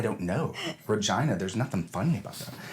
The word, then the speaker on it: Regina: That's the actual pronunciation. So, yeah, and you know what? Every Regina.